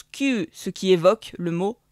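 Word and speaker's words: 九: Et le 9 se prononce kyu, ce qui évoque le mot souffrance.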